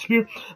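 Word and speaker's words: Spierig: I believe they pronounce it Spear.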